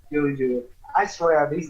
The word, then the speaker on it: Dodrio: And then Nidoking and Dub Trio. Not Dub Trio. Dodrio.